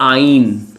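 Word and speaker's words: eins: वन को बोलते हैं आइन।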